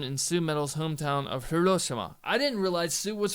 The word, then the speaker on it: Hiroshima: and 3rd 2017 Babymetal performs at the Hiroshima Hiroshima that's how you say it green arena with